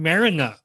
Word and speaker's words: Marynuk: ask you to tell me the correct pronun pronunciation of your last name but I'm gonna take a shot this is Darren marinu I perfect perfect yeah that's good welcome Darren